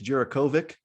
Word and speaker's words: Djurickovic: Now, tell me if I'm pronouncing, because I think it's Djurickovic with just a C, but I think is it Bulatovich? Bulatovich for him, yes. The CH, right.